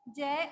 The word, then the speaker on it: ज्ञ: सही उच्चारण है, अपन इसको ज्ञ बोलते हैं, जबकि इसका उच्चारण ज्ञ नहीं होता, इसका उच्चारण होता है ज्य, ज्य, है ना।